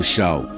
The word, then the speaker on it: Shaul: Saul, que no hebraico pronunciado Shaul, foi o primeiro rei de Israel, governando por volta de 1021 a 1000 a.C.